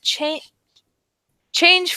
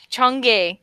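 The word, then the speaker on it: Chang'e: while China's recently deployed CH change for Lander yes I know that is not how that's pronounced we'll attempt what Chong for Lander will attempt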